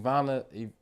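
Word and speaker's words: Iyanla: out and I seen what's the lady name Iana Iana Z VanZant yeah that's how you say her name Yanna VanZant yeah but she um basically was explaining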